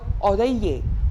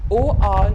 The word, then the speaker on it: oreiller: So we have the word oreiller, O-R-E-I-L-L-E-R. Oreiller, double L, not to be pronounced.